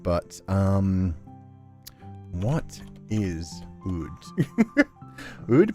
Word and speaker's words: oud: Oud, pronounced oud.